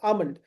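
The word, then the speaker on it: almond: Sorry fifth word L silent रहेगा। अमंड then comfortable यहां पे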